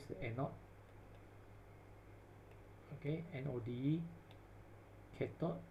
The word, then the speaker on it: cathode: the anode okay node cathode make sure you not just pronounce this one kept up this is a gate